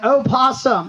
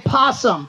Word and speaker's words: opossum: lady it is an opossum yes and let's make sure that we pronounce the O and not say possum possum is an animal from Australia I have an O